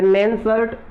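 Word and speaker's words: Nernst: आपकी, नस्ट समीकरण है, इसको आप उच्चारण करने में नस्ट भी बोल सकते हो या नैनसर्ट रिएक्शन, नैनसर्ट समीकरण भी बोल सकते हो, एन थोड़ा सा साइलेंट रख सकते हो आप।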